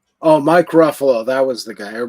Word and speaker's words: Ruffalo: It rhymes with Buffalo or something like that."